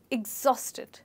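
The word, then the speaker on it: exhausted: जैसे आपके घर पे होता है ना किचन में एग्जॉस्ट फैन, वो ही सेम प्रोनाउंसिएशन है। मेरे बाद रिपीट कीजिए एग्जॉस्टेड एग्जॉस्टेड। तो आप पहले कहेंगे एक, फिर जॉस और फिर टेड, एग्जॉस्टेड।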